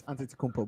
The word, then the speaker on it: Antetokounmpo: It's Antetokounmpo, bro. There's a P in there.